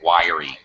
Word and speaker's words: wiry: um dieg go wiy wire like we pronounce wire electrical wire but with a Y wiry wiy what do you